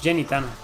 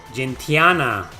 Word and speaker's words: Gentiana: Who's Jenny Tana?